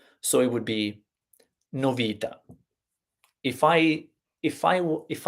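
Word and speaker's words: novità: right in other words the Italian word novita so news news in Italian novita no Vida according to the Italian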